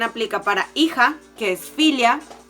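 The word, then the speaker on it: filha: se pronuncia lo le daríamos filo pero se pronuncia realmente filio esto también aplica para hija que es filia y para hoja que exfolia entonces la l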